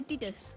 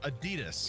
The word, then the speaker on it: Adidas: How do you say Adidas? Adidas. Adidas. That's yeah. People in the UK say Adidas.